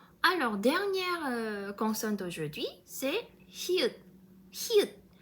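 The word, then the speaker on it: 히읗: Alors, dernière consonne d'aujourd'hui, c'est hyut. Hyut. C'est comme H. Mais faites attention, en coréen, on prononce toujours cette H.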